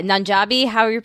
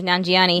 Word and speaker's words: Nanjiani: Yeah, Nanjabi. I don't know how to pronounce his last name. Thank you, Nanjiani.